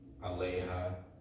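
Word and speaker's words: עליה: Aleha, you pronounce the hey, whereas here it would just be a. Here you actually pronounce the hey, aleha, aleinu, alechem, right?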